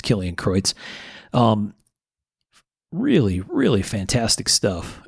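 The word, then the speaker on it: Kilian Kreutz: k-i-l-i-a-n underscore k-r-e-u-t-z and i could be pronouncing that last name improperly which would be a shame for someone with a german last name like mine but i think it's killing kreutz um really really fantastic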